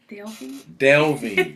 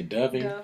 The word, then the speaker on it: delving: truth and then publishing did i say it correctly delving i said when i say dubbing delving d e v yes it's very